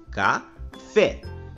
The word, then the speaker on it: café: ao sorvete e médico uma palavra café a sílaba que nós pronunciamos com mais intensidade é a sílaba fé pois nós falamos café depois na palavra sorvete